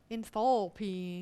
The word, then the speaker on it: enthalpy: you say it again john n for p enthalpy yeah enthalpy it's a very important thermodynamic principle and we